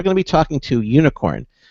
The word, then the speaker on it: Unikrn: to be talking to unicorn now it's spelled un I krn not the traditional way for for you spell unicorn but it's pronounced unicorn